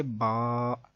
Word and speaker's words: ب: عربی لہجے کے مطابق قرآن پاک کو اگر پڑھیں گے تو وہ بے، تے نہیں بلکہ با، تا، سا ایسے ہوگا.